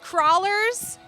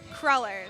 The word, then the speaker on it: crullers: Yes, I've heard crawlers, crewlers, but it's crullers.